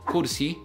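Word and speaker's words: كرسي: actual word if we look at the word Kursi Kursi which means chair in Arabic notice how we pronounce the letter Kev in this word so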